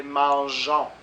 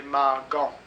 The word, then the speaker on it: mangeons: Parce que la prononciation, c'est mangeons. S'il n'y a pas de E, c'est mangon. Il faut mangeons.